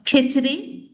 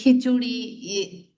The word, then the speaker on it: khichdi: It is khichdi. As being an Indian, khichdi. Also, it's a kind of khichdi, khichuri. Yeah, you can pronounce.